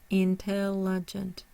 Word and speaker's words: intelligent: syllable by itself so we have a primary stress on the tail and we do not have a secondary stress the third syllable is considered unstress the four syllables considered on stress so we have intelligent intelligent intelligent we're really hearing that tell simultaneous so in simultaneous